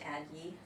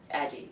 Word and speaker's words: Addyi: Is it pronounced Adgi? Aggie, yeah.